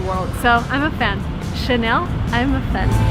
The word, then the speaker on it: Chanel: just behind me and the right way to pronounce it is again in french because it's from france so the correct way to say this word is chanel and by the way